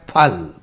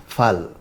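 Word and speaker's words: फल: The actual Hindi pronunciation of the word is actually a voiceless aspirated plosive and is to be pronounced as phal. Instead of pronouncing it as phal, most Hindi speakers today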